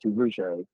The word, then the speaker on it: Duverger: It's spelled Duverger, but it's pronounced Duverger.